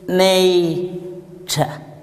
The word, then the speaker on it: nature: pronounce the group of letters t u r e you tried well but it is pronounced as cha please repeat after me very good sit down here the letter R is not pronounced look at the following